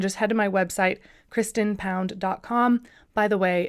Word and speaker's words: Kristen: can see that but it does sound like Kristin but it's definitely en